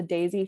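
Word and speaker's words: Daysy: i recommend all the time it's called the daisy fertility tracker it's spelled d-a-y-s-y and it's a basal bobby thermometer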